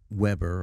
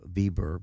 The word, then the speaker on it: Weber: Garrison troops under um Weber although they he's it's pronounced vber because he was German um and they're going